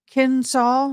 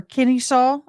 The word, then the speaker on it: Kennesaw: She proceeded to Kennesaw State University, I think, or Kennesaw is how you say it, State University, Southern Polytech College of Engineering.